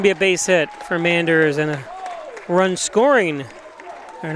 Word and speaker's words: Manders: Every time I say that name now, and I say Manders, not Menders.